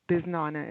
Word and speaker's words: bisnonna: BISNONNA is the correct way to say it.